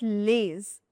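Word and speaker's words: les: vous This is not lays, no. This is lay. The final letter S is silent, so it becomes pa-hee.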